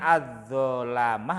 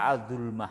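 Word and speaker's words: الظُّلَمَة: Itu bacanya az-zulamah apa az-zulmah itu bacanya? Bukan dulmah toh. Kenapa? Kenapa kok enggak az-zulmah kok az-zulamah? Alasannya apa, Pras? Az-zulamah? Kalau az-zulamah jam'u dzalim. Jam'u dzalim seperti kafirun jamaknya kafaroh, tolibun tolabah, fajirun fajaroh, dzalimun. Nah, di sini itu bacanya, ini adalah jam'u dzalim.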